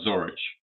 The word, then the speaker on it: Zorich: Just before we go on record, is it pronounced Zorich or Zorich? I just want to make sure I'm pronouncing it right. It's Zorich. Zorich.